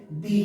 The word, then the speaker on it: the: TAC এরপর এ আছে, আমরা জানি এ হচ্ছে ভাওয়েল, এই জন্য আমরা এই TAC এটাকে দি হিসেবে প্রোনাউন্স করব।